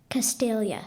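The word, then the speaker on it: Castalia: a source of poetic inspiration castelia am I pronouncing it correctly castelia castelia yes c a s t a l l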